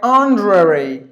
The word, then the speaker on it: honorary: And the next word is H is silent. It's like honorary. This E, the schwa sound is optional. Either you can just say it or you can silence it like honorary. Honorary, 2 syllable, or you can put it like 3 syllables. Honorary, sorry, 4 syllables. Either it is 3 or 4.